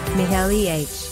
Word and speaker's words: Michelin: If you want to get fancy, pronounce it in the original French, Michelin.